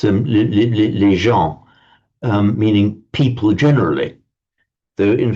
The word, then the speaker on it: gens: And it's that gives rise to the Latin word gens. In Latin, it would have been pronounced gens, meaning people.